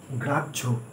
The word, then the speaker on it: গ্রাহ্য: এটা বিস্তারিতভাবে আমরা ব্যাখ্যা করলে পাই, যেমন গ্রাহ্য, গ্রাহ্য যখন আমরা লেখার সময় লিখছি বানানটা হচ্ছে গয়রাফলা আকার হয় জফলা, কিন্তু আমরা যখন বলছি তখন বানানটা বা উচ্চারণটা শুনতে এইরকম লাগছে গয়রাফলা আকার বর্গের ঝয় ওকার গ্রাহ্য।